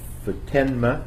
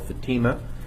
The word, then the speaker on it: Futenma: Corps Air Station in Futenma, Okinawa. It originally was called Fatima, and our hosts asked us to pronounce it differently.